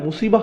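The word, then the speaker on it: مصيبة: এরপর আবার শব্দটি শেষে রয়েছে তা মারবুতা, যে জন্য আমরা মুসিবাহ উচ্চারণ করি, মুসিব না কিন্তু।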